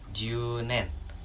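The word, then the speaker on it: 十年: dan cara bacanya yakni junen, yang artinya 10 tahun. Sama seperti kyunen, karena U-nya 2, jadi bacanya agak panjang ya di bagian U-nya.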